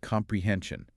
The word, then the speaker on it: comprehension: Listen to the parts of the word. Comprehension. There are 4 parts. Right, 4 parts. And the third part, hen, has the stress.